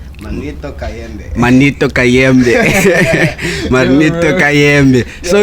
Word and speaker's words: Manito Kayembe: I want you to pronounce it in your accent, like Manito Kayembe.